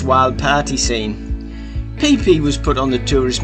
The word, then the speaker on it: Phi Phi: And it's not pronounced how it's spelt, Phi Phi Island, everyone calls it Phi Phi Island.